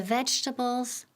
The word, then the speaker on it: vegetables: Quedan en 3 sílabas. No decimos vegetables. No en 4, pero con 3.